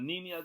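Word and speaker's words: Niña: nerds for you to get the pronunciation of Nina right it's got one of those squiggly lines over the EM so what are you gonna do so the knee Mia the Pinta and the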